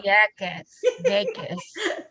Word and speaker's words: Vieques: And then, you want to pronounce that? Culebras Culebra. and Vieques. Thank you. Vieques.